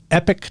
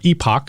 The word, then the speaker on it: Epoch: the conservative rag the epic times or epoch i've heard it pronounced both ways i'm going to go with epic this is the map